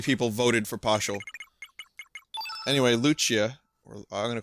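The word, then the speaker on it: Lucca: You don't know why I'm getting the CH sound? It's an Italian thing. Luch. It's kind of like some words in Italian are pronounced like the two C's together are Luch, Luchia.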